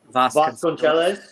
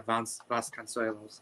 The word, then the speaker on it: Vasconcelos: Does anyone know how to pronounce that guy's name? Is it Vasconcelos. Vasconcelos. Yeah, Vasconcelos.